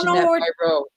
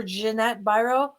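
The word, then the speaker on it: Ginette Biro: Yeah, our dear friend Jeanette Byro. Yeah, if you guys don't know what we're talking about, have a look up on YouTube for Jeanette Byro. It's spelled Ginette, and then her last name is Biro.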